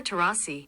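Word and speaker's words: Taurasi: Even though a lot of people think it is Diana Terousei, how do you pronounce that? Diana Terasi.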